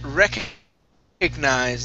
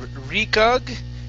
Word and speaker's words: recognize: All right, let's go to the word recognize instead of recog. It's recognize. Okay, nice.